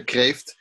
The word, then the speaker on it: Kreeft: a person called Peter Kreeft yes yeah I will pronounce it Pater caved do you know what caved means in Dutch no it means lobster Creeft means lobster in Dutch mm-hm I had no